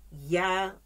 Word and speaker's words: Yah: of his name is yeah y-a-h even though the spelling is different but it's the same pronunciation okay that is the